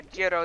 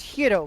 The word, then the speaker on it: Gyros: does I you know I just had a judo the other day that is it's it's I can't pronounce it the real word computer Gyros there we go yeah you know it's it's Hiro by the way okay well it's delicious so